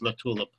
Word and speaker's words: LaTulip: The pronunciation was close. It's LaTulip.